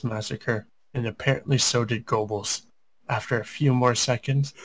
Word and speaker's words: Goebbels: I'm going to call him Gobbles. It's actually Goebbels.